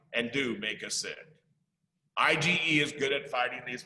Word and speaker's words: IgE: a job to do one type is called ige pronounced ige just like its spell sometimes parasites such as